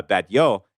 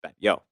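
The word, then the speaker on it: Batlló: the same in spanish and catalan and uh bad yo is b-a-t-l-l-o that's what it looks like uh but it pronounced bet yo and this is actually a place that you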